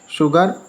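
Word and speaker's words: sugar: शुगर, देखो शुगर में, ठीक है, ये यू आया, उससे पहले एस है, तो इसलिए शुगर पढ़ेंगे इसको।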